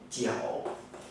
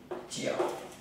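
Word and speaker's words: 九: Bởi vì cái nó phát âm giống hệt với cái từ là mãi mãi.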